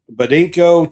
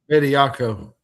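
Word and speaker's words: Bediako: The judge allows Charles um Badinko to play tomorrow in the game. Pediako.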